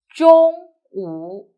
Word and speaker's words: 中午: 中午. Pay attention. Here, your tongue will roll. 中午. Very good. Now, let's write together. First one, 中. 竖, 横折, 横, 竖, 中 and 午, 撇, 横, 横, 竖, 中午.